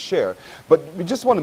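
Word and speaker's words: Csheir: as well which is shake or share c-s-h-e-i-r pronounced share but we just want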